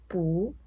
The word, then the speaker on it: 不: Please remember No (bù) when there are four tones behind, bù should be pronounced twice Which is bú Let's give an example